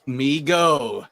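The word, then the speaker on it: Mego: hopefully not drinking don it's pronounced me go as neil put it fact ultraman is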